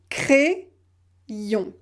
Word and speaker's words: crayon: Un crayon. Le premier I est associé au A pour former le son E, cré. Le deuxième I est prononcé dans la deuxième syllabe, crayon, crayon. Donc vous avez le son E-I, crayon.